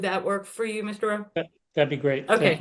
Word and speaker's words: Row: I heard, is that how you say it? It's pronounced Row, R-O-W.